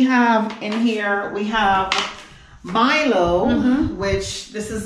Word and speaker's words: Milo: So we have in here, we have Milo, which this is the Jamaican pronunciation, M-I-L-O. We call it Milo. And that's we say Milo. And in Kenya, they say Milo.